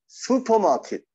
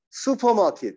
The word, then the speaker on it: 슈퍼마켓: 슈퍼마켓. 슈퍼마켓. 슈가 아니에요. 슈가 아니라 수. 슈퍼마켓.